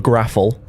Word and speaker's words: Graffl: This is called the Graffle. Okay. Don't ask why. We have no idea why we started saying that word. It's spelled Graffl, the Graffle. Okay. I expected an E at the end of that.